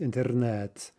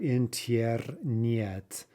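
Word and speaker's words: интернет: are actually saying them look at a couple here um internet right obviously a borrowed word that's pronounced internet right not in tierra niet right there's no yeah sound in those er yes right even though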